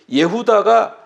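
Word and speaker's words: יהודה: 이 마따디아 제사장이 전사하고 그 아들 이제 유다, 예후다인데 히브리식 발음은 예후다가 셋째 아들인데 이 사람이 아주 전략이 뛰어난 사람이에요.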